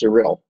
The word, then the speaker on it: Sarill: well I said anyway my name is pronounced surreal surreal thank you thank you surreal of course it does it actually the way it's actually written is the way it should be pronounced surreal thank you for